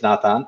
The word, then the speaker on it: Nathan: A few years later, I said, no, no, don't pronounce it that way. It's Nathan.